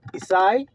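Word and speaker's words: Ἰεσσαί: So isai you notice the pronunciation this is the Greek way of saying it same thing you see.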